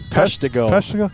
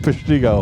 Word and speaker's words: Peshtigo: that way that's cool how does it pronounce peshtigo i like prestigo yeah it sounds you know like prestigious yeah did you know